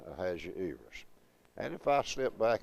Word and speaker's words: Ahasuerus: And you got 5 syllables on that name, Ahazu, long E, so the accent in my text is on the E. So that's the reason I'm saying Ahasuerus.